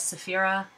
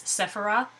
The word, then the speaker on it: Cephera: to say her name I personally say it as Saphira some people say it as sefirah which is how my little text computer will say it back to me not crazy about the saying but you know what it doesn't matter if you want to say sefirah or Saphira the name actually comes